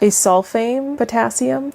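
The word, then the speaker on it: acesulfame potassium: And then you have ACEK or it's uh the pronunciation is a asulfame potassium.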